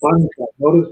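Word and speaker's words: בַּנְתָּה: I'm sorry, it's banta. Notice the accent on the debate. Banta. Yeah, so Banta. the stress, yeah.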